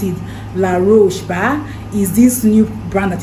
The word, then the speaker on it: La Roche: I know that it's very good it's um la rouge but that's how they pronounce it La Roche is this new brand that is that the